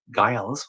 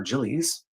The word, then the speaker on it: Giles: Carlton Lloyd Giles, or Gillies, depending on how you pronounce it, but I think it would be Giles in this case, has made profound contributions to veterinary microbiology.